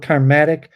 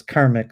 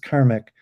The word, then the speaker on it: karmic: picked up the concept I actually said it wrong it's karmic for some like I call it karmatic because uh but but actually the proper word is karmic there's not it's not attic it's just karmic um I mean because